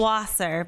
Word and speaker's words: Wasser: name no but it's close enough it's called wasser but i mean i don't get offended if it's not pronounced all right i realize it's it's a tough one it's a tough one is it the germ vosser would they do that yeah it actually means